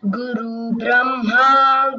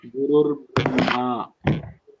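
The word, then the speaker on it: गुरुर्ब्रह्मा: Guru Vish, Guru Brahma, Guru Vishnu, Guru Devo Maheshwarat, Guru Sakshat Parambrahma, Tasmai Shri See, you should practice the pronunciation properly. Gurur Brahma, Brahma, Gurur Vishnuhu, Gurur Devo Maheshwaraha.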